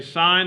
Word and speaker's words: sine: functions first it's written si n but it's pronounced sign we would say sine of theta when we take a trig function